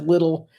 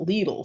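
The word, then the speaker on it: Lidl: doing well Nick says little but yeah first time I ever saw it was um a German YouTube channel and they pronounced it leele so that's why I always revert back to leele bakeries are excellent you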